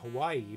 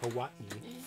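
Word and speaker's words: Hawaiʻi: yes people pronounce it hawaii but it's actually pronounced hawaii because there's glottal stops in the hawaiian language we're just there yeah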